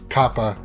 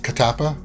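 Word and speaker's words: Kattappa: right and then uh they were calling him kappa when it's really katapa or right i picked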